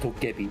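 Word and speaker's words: 도깨비: It's pronounced Togebi, and it's Thank you.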